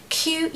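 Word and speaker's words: queue: q e u e what I would say the spelling is more difficult than the pronunciation the pronunciation is simply the letter Q okay guys Q in the alphabet that's all you need to focus on just say Q I think I told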